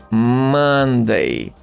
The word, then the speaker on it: Monday: But it doesn't sound like O, Monday, Monday. It sounds like Monday.